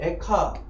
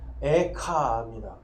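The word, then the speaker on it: איכה: 에가라고 그러고요 히브리어로는 이제 에카 카라고 하는데요게 우리나라이 좀 비슷하죠 이는 원래 길게 발음하는 겁 겁니다 그래서 에카입니다 예레미야 에가 예 여기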